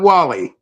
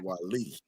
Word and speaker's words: Wali: My name is Wali, not Wally. Okay. Wali.